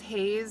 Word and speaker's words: Hayes: Or, I think their nickname for me was actually, because my name is Hayes, and that kind of rhymes with face.